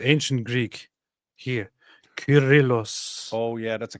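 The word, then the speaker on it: Κύριλλος: Curillos. Oh, yeah. That's a K. Curillos. Curillos. Alexandrias. So if now in the English-speaking word people pronounce it as serill because they uh pronounce the C as both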